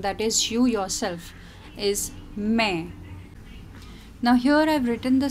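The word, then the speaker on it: मैं: That means that N at the end is only half pronounced. It is a nasal sound. And you can see this dot over here. So this dot denotes this nasal sound. It's main.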